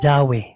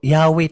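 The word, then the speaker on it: Yahweh: fundamentals of Catholic dogma jawe nga eh jawe pero yahwe talaga ang ang pronunciation niya sa fundamental kug ma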